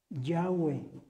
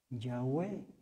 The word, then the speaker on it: Yahweh: ese nombre estaba equivocado, que el nombre se tenía que pronunciar Yahweh.